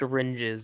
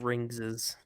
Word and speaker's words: Ringes: Uh, make sure that you know that the it's pronounced Ringes and not Ringses or Rings.